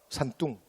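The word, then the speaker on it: 山东: 근데 중국 애들이 그 동력동을 발음할 때 우리가 들으면 약간 뚱으로 들려요. 그래서 산뚱.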